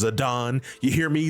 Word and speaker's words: Zidane: once in the whole game and yeah it's pronounced zadon you hear me zidane Believers I'm right and I know I'm right